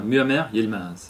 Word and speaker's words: Muammer Yilmaz: a aussi ton partenaire de voyage qui s'appelle Muammer Yilmaz. Je prononce bien. Très bien, Muammer Yilmaz.